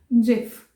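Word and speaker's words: GIF: Full form जो ज की है वो ग से स्टार्ट हो रही है, लेकिन हम इसको गिफ नहीं बुलाएंगे, इट्स जिफ। It's right pronunciation is जिफ।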